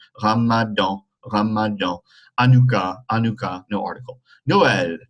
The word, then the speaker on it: Ramadan: Le Ramadan, nasal sound. Ramadan, Ramadan.